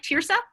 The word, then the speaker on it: Tearsa: Is it, do you say it like Tearsa? Yes, like a tier.